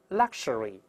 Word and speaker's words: luxury: 不好读，再来一遍 luxury。这个 x 出现一般有四个发音 ks ks gz gz，在这里发 ks，再来一遍 luxury。